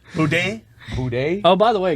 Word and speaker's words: boudin: You pronounce the N in Boudin You're not supposed to.